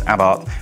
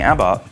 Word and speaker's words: Abarth: get the history it's about and yet I'm saying a bar because even though it might look like a bath it's pronounced about the about range isn't